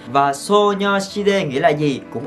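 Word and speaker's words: 소녀시대: Girl Generation hoặc là đọc theo kiểu người Hàn. So, Nyo, Si, De, So, Nyo, Si, De là tên mà người Hàn dùng để gọi Girl Generation. Và So, Nyo, Si, De nghĩa là gì?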